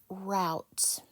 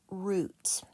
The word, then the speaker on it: route: little bit about that the E is silent we don't hear the E and the O and the U are stuck together they're functioning as one